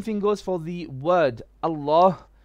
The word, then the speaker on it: الله: There's a ha at the end of the word Allah, and many people, they neglect to say Allah with a ha. They say Allah, Allah, as in just with a lam, which is not correct.